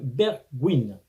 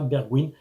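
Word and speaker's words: Bergwijn: en commentaire tout d'abord Steven bergwin ça se prononce comme ça bergwin 25 ans ailier gauche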